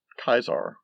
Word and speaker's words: Caesar: into the modern age with kaisar which is actually how you would pronounce caesar in latin and then also further